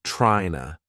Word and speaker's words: tryna: Here, I want to draw your attention to the words trying to, which were said as tryna.